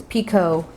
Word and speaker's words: picot: space to create my Piko Piko Piko it however you want to say it I think it's a French word is picot the T is silent so you'll create your